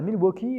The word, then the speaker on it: Milwaukee: oui nous sommes à milwaukee alors faut savoir que ça se prononce milou ok ça veut dire